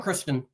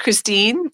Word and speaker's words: Khrystyne: Thanks for coming on, Kristen. Hi. It's actually pronounced Khrystyne Haje, but I'm the same person, regardless of whatever you call me.